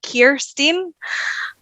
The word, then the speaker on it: Kirsteen: Americans don't they all they say it's like Kirsten so like I don't know why so yeah